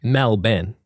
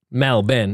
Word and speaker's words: Melbourne: how do you say it right correct me mel ben mel ben it's like two guys just said the same